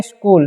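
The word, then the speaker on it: school: पढ़ेंगे आवर इससे पढ़ेंगे स्कूल देखि सीच का उच्चारण है य पर क होता है ठीक है स्कूल नहीं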